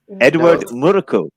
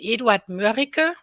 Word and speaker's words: Eduard Mörike: Edward Murko. No, Murko? Yeah, the German pronunciation, Eduard Mörike.